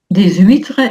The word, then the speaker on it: huîtres: Des huîres on fait la liaison. C'est un hachmuet. Donc ce petit crustacé hein, les huîtres, les hanches à chaspirer, pas de liaison.